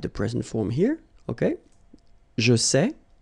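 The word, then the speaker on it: sais: same way here here you write it s t okay but then phonetically these three forms are the same and it's say okay say say say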